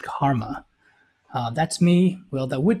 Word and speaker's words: CCRMA: music and acoustics CCRMA and that's pronounced Karma that's me well that